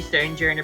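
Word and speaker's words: Stonjourner: I think it actually is supposed to be Stonejourner because it's meant to be a play on Sojourner, and it's stone, something like that.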